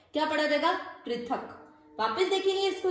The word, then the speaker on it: पृथक: पृथक। वापस देखेंगे इसको उच्चारण को।